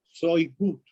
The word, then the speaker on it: Shoigu: Se pronuncia Shoigu, que es ministro de Defensa ruso, y Vladimir